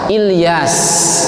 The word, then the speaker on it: Ilyas: Kiai Ilyas bi kasril hamzah inda Ibnul Ambari. Menurut Imam Ibnul Ambar dibacanya hamzahnya kasroh, Ilyas ya. Dibacanya kasroh, Ilyas. Itu kaul yang sahih ya.